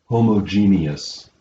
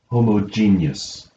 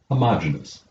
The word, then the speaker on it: homogeneous: our zero there are two correct ways to pronounce this word one of them is homogenious the other is homogenius though there is a common mispronunciation of this